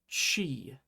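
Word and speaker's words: ち: This character is chi, just like the first sound in cheese.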